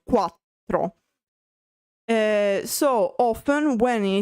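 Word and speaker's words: quattro: And of course um while in English four is a one syllable word in Italian it is not because it has two syllables. In fact it is quatro quatro.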